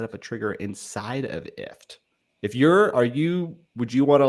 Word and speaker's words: IFTTT: And so IFT is spelled IFTTT, which stands for if this then that.